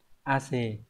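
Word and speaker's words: 汗: Vậy thì mồ hôi sẽ đọc là ace, chúng ta chọn nó đúng là 1.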